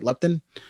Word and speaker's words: leptin: Leptin?